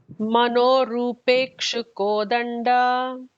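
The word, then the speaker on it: मनोरूपेक्षुकोदण्डा: Manorupekshu Kodanda. Manorupekshu Kodanda. And the Da is the regular Da, not the Mahaprana. Okay. Yeah. Manorupekshu Kodanda.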